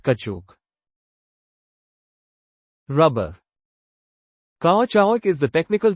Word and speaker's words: caoutchouc: What type of natural substance is caoutchouc, pronounced kachuk?